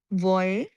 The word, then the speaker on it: voyez: sound voyeo ওয়াইয়ং voyeo right then voyeo vous voyez ওয়াইয়ে voyez il Il.